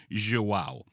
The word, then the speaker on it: João: I hit Google Translate real quick, but yeah, it's João is how that's pronounced.